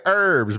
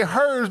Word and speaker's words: herbs: a famous British comedian he makes fun of the way Americans say herbs but then he says we say herbs because there is a effing H in it uh you say Leisure